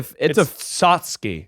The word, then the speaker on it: tchotchke: It's a Sotsky. it's a weird one. Yeah. Sotsky. Sotsky. Yeah, we've been pronouncing it wrong this whole time.